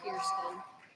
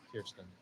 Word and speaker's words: Kirsten: My first name is pronounced Kirsten. Kirsten. Yes, Kirsten.